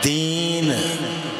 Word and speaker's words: दीन: दन पिया दीन छोटी ई की मात्रा लगाओगे तो होगा दिन उसका उच्चारण होगा दिन और बड़ी की मात्रा लगा दोगे तो दन उस पर जोर देना